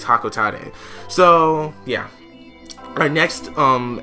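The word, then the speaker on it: Hocotate: to planet hakotate and i always pronounce that hakote but apparently it's hakote so yeah my next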